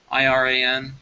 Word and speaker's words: Iran: how's it pronounced again it's IR an i r Iran not wean Ian should think about